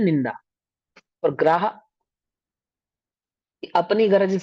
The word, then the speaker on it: गर्हा: वो कहलाता है निंदा और ग्राह। ऐसे होता है वो। और किसको गर होते हैं? भैया गुरुकर्मी। गरहा होता है। गरहा, ग्रहा नहीं, ग्राह, गरहा।